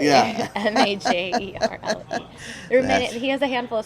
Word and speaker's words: Majerle: enough, now he's just like, everybody loves Dan Marley. And for a good reason. When I was a child, and I'm sure many other children or people out there who didn't know, Dan Major League.